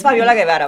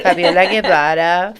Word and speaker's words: Fabiola Guevara: Fabiola Guevara. I love how you say it in English. Stop it. Es Fabiola Guevara para los que hablan español. Fabiola Guevara, Fabi.